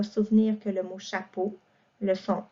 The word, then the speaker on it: chapeau: Par exemple, le mot chapeau, ça s'écrit E-A-U, le son O à la fin, parce que ça nous protège de l'eau qui nous tombe sur la tête lorsqu'il pleut.